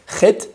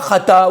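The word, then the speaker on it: חטא: Chet, tête, aleph. D'accord? Il y a un aleph avant. Mais on ne le prononce pas. On ne dit pas chata ou chaté ou chato.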